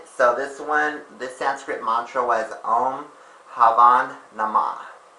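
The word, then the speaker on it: Om Bhavam Namah: time saying, they actually, one of the words would start with like the letter B, and I guess I realized the letter B is silent. So this Sanskrit mantra was Om Havan Namah.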